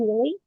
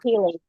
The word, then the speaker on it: Healy: Healy, Healy. Oh, Heal with a Y. Healy.